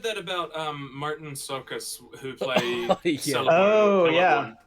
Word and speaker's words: Csokas: Martin Sokas. Martin Sokas. That's spelled Csokas, I believe.